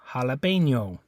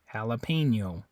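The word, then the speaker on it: jalapeño: the next one is jalapeno jalapeno in English it'd be jalapeno notice how this pronunciation is slightly different on that one between English and Spanish Jalapeno in English most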